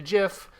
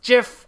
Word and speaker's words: GIF: there's if jeb by if you go by the rules of the english language it's jif or gif if there's no okay the i you make the i sound if there's an e at the end of the word or like after the consonant that follows the previous vowel that's just how it goes it's just the way